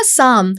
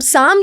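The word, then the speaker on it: psalm: एक वर्ड था साम। अब साम जो है वो शुरू होता है पी से और उसकी स्पेलिंग है पी एस ए एल एम।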